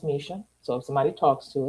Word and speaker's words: Misha: So you are the AI workbook builder by Misha, pronounced Misha.